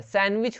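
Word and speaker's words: sandwich: वैसे यहाँ पे देखेंगे, यहाँ पे आप बोलेंगे डी जो है ना वो साइलेंट रहता है, सैंडविच होता है ये डी ना, यहाँ पे भले लिखा गया हिंदी में, लेकिन ये होता है सैंडविच, सैंडविच, ठीक है।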